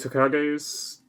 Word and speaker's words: Tokage: So this is going to be Tokage's. Again, I'm sorry if I'm mispronouncing that. I'll wait till we hear Mike say it. What? It is Tokage.